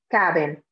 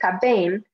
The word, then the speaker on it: caben: Ellos, ellas, ustedes caben. Make sure when you're pronouncing that you're putting that stress on the right part, on the second to last vowel, not the last vowel. So we don't say caben, but we say caben.